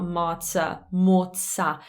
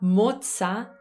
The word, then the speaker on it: mozza: how to pronounce it so not matzah notice how there's more movement in my mouth in italian i may be exaggerating slightly just to to show you mozza so it's not it's